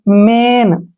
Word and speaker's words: main: bell, MAIN मेन, क्यों, क्योंकि एक आई के बाद एन आया